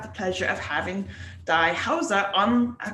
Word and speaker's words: Heuser: It's not Heuser, it's Heuser.